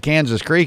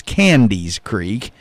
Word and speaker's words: Candy's Creek: you know he's been growing up calling it Kansas Creek his whole life and he was doing it on here and then somebody I won't guess who but somebody informed him that he keeps saying it wrong so now he's corrected himself now he knows that it's Candy's Creek and that's not any